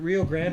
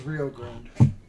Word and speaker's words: Rio Grande: Is it Rio Grande or Rio Grande? Rio Grande. Depends. Are you saying it in English or in Spanish? It's Rio Grande.